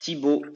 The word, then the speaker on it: Thibaut: I hope uh you I your name is the pronunciation tibot or how do I pronounce it? Tibbo tibo is is how French would do but honestly I'm used